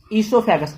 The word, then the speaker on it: ईसोफेगस: तो food pipe जो होता है वो होता है आपका, उसको हम ईसोफेगस भी बोलते हैं, ईसोफेगस, ओ साइलेंट होता है।